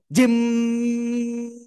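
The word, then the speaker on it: ج: টেনে আমরা উচ্চারণ করব তাহলে কি এরকম উচ্চারণ করব জিম এরকম এরকম করা যাবে না ঠিক আছে তাহলে কেমন হবে উচ্চারণটা জমিয়ে উচ্চারণ করতে হবে ধীরে ধীরে এই যে জিম সবাই একসাথে জোরে বলেন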